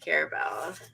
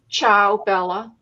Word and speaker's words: Ciao Bella: complaint from about samporia and carabella sir i'm saying it wrong say it again for me helen ciao bella ciao bella i'm from